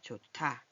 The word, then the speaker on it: 좋다: 히읗은 이렇게 자음을 만날 때 소리를 변화시켜요. 뭐로? 시끄럽게 변화시켜요. 얘보다 디귿을 더 시끄럽게 하면 어떻게 거센 소리만 탁 이렇게 되죠? 좋다. 좋다. 여기 히읗이 디귿 발음이 온다 그래서 이렇게 하면은 좋다 이게 아니라 좋다 이렇게 내는 거예요.